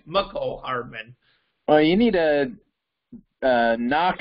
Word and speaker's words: Mecole Hardman: I got it right, by the way, but when Drew used to call Mecole Hardman Mecole Hardman because Jim Nance said it, well, Jim Nance said it wrong. It's Mecole Hardman.